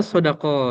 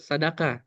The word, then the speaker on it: Sadaka: Oh, Sodako. Ya, ya, ya. Ya, Sadaka, tapi bacanya Sodako apa Sadaka? Sadaka.